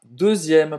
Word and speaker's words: deuxième: La deuxième. Prenez la deuxième. Segunda. Então esse X tem som de Z.